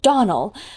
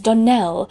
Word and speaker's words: Donnell: "Clarice Almira told me that you pronounced our name Donnell. Now, Miss Shirley, the correct pronunciation of our name is Donnell, accent on the last syllable.